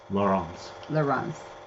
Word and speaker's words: Laurence: Mine is the French pronunciation, Leuren, and his is the Dutch pronunciation, Laurence.